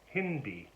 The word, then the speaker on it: hindi: these at home know is pretty easy it's Hindi h ind i pronounced indeed and just i just think of